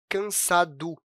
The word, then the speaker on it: cansado: você vai perceber que a gente não pronuncia o "O". Na verdade, a gente até pronuncia, mas com o som de "U". "Cansado" acaba ficando "cansadu" na fala.